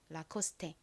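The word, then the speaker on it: Lacoste: 읽어 보면 라코스테가 되죠 라코스테 사실 보통 영어 단어에서는 끝에 이렇게이가 오면 헛개 비로 소리가 나지 않잖아요 그런데이 라코스테라이브 영어 단어가 아닙니다 제가 알기로는 프랑스어로 알고 있어요 그래서 읽는 방식이 좀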